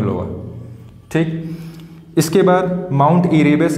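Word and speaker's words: Erebus: कौन सा है, माउंट इरेबस। इसी को एयर बस भी कहीं कहीं लिखा होता है बुक में, वो बस उसको प्रोनाउंसिएशन की तरीके से लोग करते हैं इंग्लिश में। तो इरेबस ज़्यादा अच्छा है और एनसीईआरटी में यही दिया गया है।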